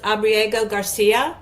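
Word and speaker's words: Abrego Garcia: And I would also say, even how he's handled, I believe it's pronounced Abriego Garcia. Yep.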